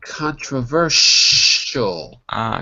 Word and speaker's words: controversial: see s.i.s i right SI equals the sound sure Shh so it's going to be controversial controversial right so right you good so even though there's an I in the word you don't actually pronounce the i the SI is exactly like SH show shall controversial controversial oh that's it okay